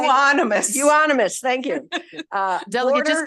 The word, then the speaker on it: euonymus: How do you say euonymus?